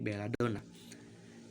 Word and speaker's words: Belladonna: Kemudian huruf N yang dia double atau N-nya ada 2 maka dibaca menjadi 1 N-nya. Contoh Belladonna maka dibaca menjadi Belladonna.